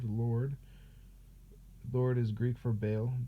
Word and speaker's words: Baal: Lord is Greek for Baal, Baal, exactly like that, which is exactly how it's spelled here, and caused their sons